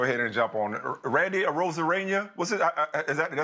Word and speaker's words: Arozarena: didn't just go ahead and jump on Randy Arozarena. What's it? Did I say it right? Arozarena.